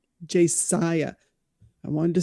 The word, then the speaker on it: Josiah: Josiah.